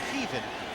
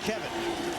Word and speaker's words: Kevan: And if somebody's just tuning in saying, why are they calling him Kevan? He told us the real pronunciation is Kevan, not Kevin.